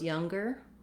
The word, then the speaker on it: younger: it sounds like uh so I rewrote younger here for you if it were consistent young would be spelled like that just like hung only has a u and an NG sound so both of those younger hunger they rhyme they have the same all the same sounds except for the initial